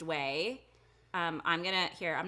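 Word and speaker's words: OUAI: funny spelling um but it's pronounced way it's o u a i pronounced way um i'm gonna here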